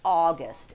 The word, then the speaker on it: August: or the middle okay a u is it's a tricky sound because it sound it's very close to a short o sound but i teach my kids it's deeper in your throat and you say oh what is it oh au says ah as in august everybody say august it's